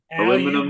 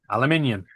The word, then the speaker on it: aluminium: Aluminum. Aluminium. Aluminium. There you go. Aluminium. Aluminium. It can't be aluminum. There's only one L. Aluminum. Aluminum foil. It's aluminium. Aluminum foil.